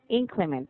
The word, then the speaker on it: inclement: yeah, but basically inclement. The stress is on the ink.